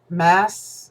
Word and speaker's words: Myss: And since this is, and I've been watching this thing, and I forget the lady's name now, Caroline Mass, it's spelled MYSS or whatever.